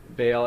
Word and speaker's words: Baal: leading studies on is forgive me if i'm mispronouncing it baal or uh that's correct baal as a dying rising